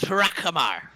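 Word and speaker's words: Hrakhamar: And if you must know, the H is silent, so it's really difficult. Harakamar.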